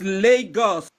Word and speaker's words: Lagos: Legos? It's Lagos.